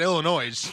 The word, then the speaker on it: Illinois: We said Illinois, Okay. But the S is silent.